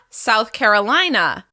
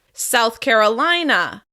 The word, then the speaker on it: South Carolina: Next up, South Carolina. South Carolina. As you can hear, we're stressing the third syllable of the second word. South Carolina.